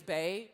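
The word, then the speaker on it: Bae: But it really is Bay because it's spelled like Beyonce.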